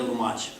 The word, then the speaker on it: Lumaj: having me here tonight my name is lumach l u maj it's very hard to pronounce it actually 23 years ago i was